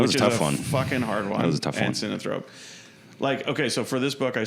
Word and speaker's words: synanthrope: And synanthrope.